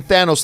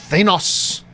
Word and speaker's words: Thanos: C much like nebula red skull pronounces the nose in Thanos like nos like in car but he also pronounces the thin kind of like stain not Stan he is burdened with knowledge